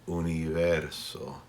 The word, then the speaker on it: universo: When we have be in between vowels, just like we had earlier with be in Cuba, we will pronounce be with a softer sound. So, universo. It's not universo, it's universo. Just like with Cuba, my lips hardly touch.